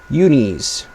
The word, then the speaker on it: Uni: Unis. Technically, it's pronounced uni, but uni sounds infinitely better, so I'm going to say that.